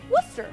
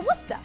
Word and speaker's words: Worcester: Oh, Similar to this one, which is Worcester or Worcester.